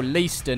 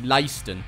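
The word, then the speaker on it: Leiston: previous video as well leeston is actually layston you know what deep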